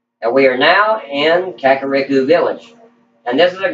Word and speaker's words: Kakariko: it's kick Kakarot village I think is once pronounced should be yeah Kakariko village we're gonna go this way and right